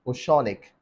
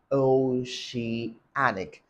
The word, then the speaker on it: Oceanic: Nigeria and funnily enough this bank's name was pronounced OIC even in their major ads on CNN you hear them say Oceanic bank right so but that's not the pronunciation the word is pronounced oh she anic o she anic so if you're trying to